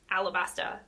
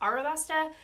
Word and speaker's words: Alabasta: like no girl like you're not saying it wrong it is alabasta and not arabasta but I mean it could be arasta and I'm not going